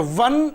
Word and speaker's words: one: 100 rupe note or one eyed person see here what happens words starts with o o is a vowel but its pronunciation is W so we will have